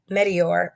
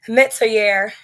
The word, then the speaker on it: Metier: actually marries into the meteor. I keep saying it wrong. Metier, excuse me.